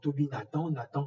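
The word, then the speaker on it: Tobie Nathan: Et dans le sens inverse, Toby Nathan, qui est un professeur émérite de psychologie, donc Toby Nathan comme ça se prononce, donc Toby Nathan a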